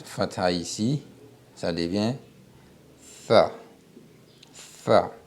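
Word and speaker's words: ث: Tha. Cette lettre-là, pour bien la prononcer, on colle la langue aux dents supérieures. Tu colles ta langue à tes dents supérieures et tu essaies de souffler en prononçant tha, tha, tha, tha.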